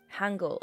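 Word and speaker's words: Hangul: Um, is it Hungle? I'm I'm not sure what Korean script is is uh referred to, but however your name is pronounced, welcome on in. We just killed a chatter. Okay. Hangle. Okay. Okay. I was right.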